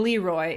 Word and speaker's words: Leroy: be looy or even Leroy if we were doing an American pronunciation yeah so that character